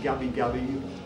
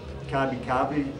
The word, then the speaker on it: Gubbi Gubbi: are meeting today, that is the Gubbi Gubbi, as you can hear, or the Kabi Kabi, a couple of different pronunciations and spellings, and also the Undumbi